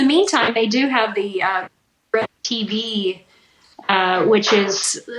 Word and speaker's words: RFD: That's it, RFD. I always want to say RDF.